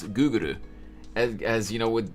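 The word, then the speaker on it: グーグル: I know that the Japanese pronounce Google as Guguru, as you know, it's literally like a foreign word to them.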